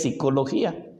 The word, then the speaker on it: psicología: se pronuncia late como por ejemplo en la palabra psicología muy bien sabemos que tiene una una pega pero no se pronuncia nada más es el es psicología y en este caso